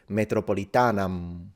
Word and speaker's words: Metropolitanam: him with Italians because he's now not pronouncing the M, since the ancient Romans actually told us that. They said, do not pronounce the M if you don't want to sound like a barbarian, which means fully nasalize it, Metropolitanam, which makes it sound like Italian, Metropolitana.